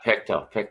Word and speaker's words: Pictou: Is it proper pronunciation? Pictou, right? yeah, Pictou, yeah.